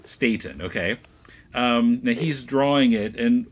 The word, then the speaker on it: Staton: but you know so Jo Stanton is that's a pronunciation correct Stanton more like state Staton okay he's drawing it